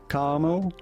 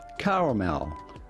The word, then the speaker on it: caramel: so about pronouncing it there's going to be two different ways depending on your personal preference either karma caramel or caramel caramel man you can't do